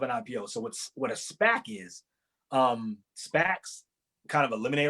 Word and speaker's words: SPAC: And that's what SPAC stands for, and pronounced SPAC.